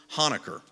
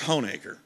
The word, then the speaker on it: Honaker: When I first heard of this place, I thought it was known as Honaker, but it's Honaker.